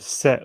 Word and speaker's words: Set: Just Well, as an Egyptian god, Set was my nemesis. There's no H on the end, but you could imagine there was original Egyptian Seth. Sorry. Yeah, Seth was sometimes spelled with a H.